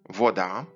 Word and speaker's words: вода: hear old east slavic voda which can also be pronounced with the english w at the beginning and all church slavonic